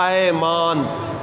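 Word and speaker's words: أَيْمان: ہوتا ہے یمین کی، اور یمین کہتے ہیں قسم کو زبر کے ساتھ، ایمان۔ اور ایمان زیر کے ساتھ وہ عقیدہ ہوتا ہے جو عام لفظ استعمال کرتے ہیں نا، ایمان کا۔ تو یہ تلفظ میں بھی فرق کا لحاظ رکھنا چاہیے۔ ایمان یمین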